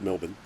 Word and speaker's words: Melbourne: out of words like melbourne is how it's supposed to be pronounced that's melbourne m-e-l-b-i-n melbourne yeah brisbane brs bun brisbane